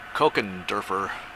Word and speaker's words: Kochenderfer: a name for you Coke and derer however you want to say that Coke it's a CH it's a C Sound and derer anyway there's a name